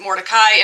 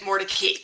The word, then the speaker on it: Mordecai: at Emma Mory's name and say that you pronounce it Morai, in fact, the family pronounced it Mordei, and that's what you will hear me saying.